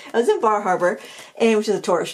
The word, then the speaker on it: Bar Harbor: you probably know that I was in bahaba that's how that's how the locals say it I was in Bar Harbor and which is a